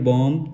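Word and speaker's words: bomb: है हमारा उसके बाद हमारा नेक्स्ट वर्ड है बम बी ओ एम बी बम कुछ लोग क्या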